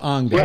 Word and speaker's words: Angela: It's pronounced Angela.